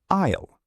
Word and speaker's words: aisle: It is pronounced isle. The letter s is silent. So you say isle seat, please.